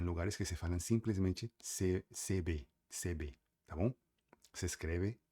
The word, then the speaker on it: CV: Tem lugares que se que simplesmente falam CV, no caso você CB, se escreve CV, C de casa e V de vaca, tá bom?